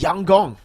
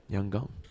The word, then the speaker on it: Yangon: By the way, Lfell, apparently YG is pronounced Yang Gong. Yang Gong Yangong.